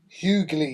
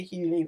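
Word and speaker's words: Hughley: but is it hug do you pronounce the G do you hugly that's what I'm saying you do okay right so DL hugly I always say hugy I'm rude Cat Williams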